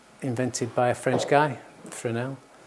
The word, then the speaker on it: Fresnel: And in comparison, we have a Fresnel, which is kind of like the Hollywood style kind of lighting you get from a Fresnel.